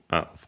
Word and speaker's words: を: The object particle O retains wo, pronounced as such in careful speech and also singing.